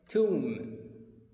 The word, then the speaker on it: tomb: this camera to take some pictures okay next tomb tomb peace silent tomb atom atone a large